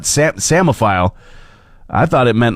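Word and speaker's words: psammophile: know what the word samophile is all about uh to let you know how it is spelled p-s-a-m-m-o-p-h-i-l-e I heard the word before I saw it spelled so I immediately thought samophile I thought it meant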